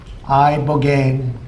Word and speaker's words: ibogaine: Ibogaine. Remember the name. Is that pronounced relatively properly, would you say? Yes. I don't want to get it wrong.